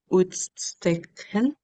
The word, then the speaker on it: uitstekend: Eh, had uitstekend. Gimana ya cara Perfect. ngomongnya? Perfect. Het gaat uitstekend. Jadi U dan I itu kita bacanya kayak au. Uitstekend.